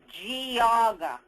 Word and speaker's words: Geauga: How's it pronounced? Geauga.